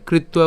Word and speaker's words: কৃত্বা: এরপর সমে কৃত্বা, এখানে কৃত্বা উচ্চারণ করার ক্ষেত্রে আমরা কৃত পর্যন্ত উচ্চারণ করলাম এবং যে ব আছে এই বয়ের উচ্চারণটা কেমন করছি, উয়া।